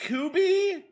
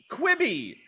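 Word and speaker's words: Quibi: So I guess QBY, not Kubby. Kubby. It's Quibby.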